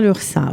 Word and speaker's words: Lurçat: Lursa, ça s'écrit Lurcat. Voilà.